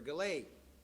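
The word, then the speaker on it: GALAEI: committee micah thomas is here operations manager for galay did i pronounce that right yeah all right g-a-l-a-e-i jessica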